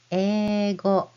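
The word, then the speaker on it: 英語: The word for English in Japanese is eigo. Eigo. You spell it as this. Ego. Eigo is how you spell it, but you pronounce it as ego.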